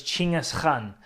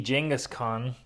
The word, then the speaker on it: Chinggis Khan: And actually, his name was Chinggis with a CH, Chinggis Khan. And the K is silent, so it's Chinggis Khan is how you pronounce that.